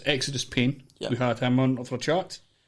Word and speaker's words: Xidus Pain: Just kidding, Exodus Pain. What joke? You're right, it was Xidus Pain. It was, no. Aye. I think he's wrong. I think he's saying his name wrong. There you go. Well, according to him, the owner of the name, it's Exodus Pain.